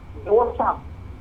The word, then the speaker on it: दौसा: दौसा। Spelling बताइए।